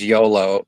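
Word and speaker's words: Iolo: It's an old RPG series and one of the characters is named Yolo, but it's spelled I O L O.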